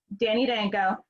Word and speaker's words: Danko: Laury Lucien, an amazing entrepreneur and attorney here in Massachusetts, and the great Danko, formerly of High Times, and now who has launched his very own Northeast Leaf, right?